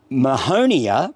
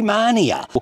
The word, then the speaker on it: mahonia: So dahlia probably should be dahlia, fuchsia should be fuchsia, and mahonia probably should be mania. So whatever their name is, you try and pronounce it as closely as possible to the original.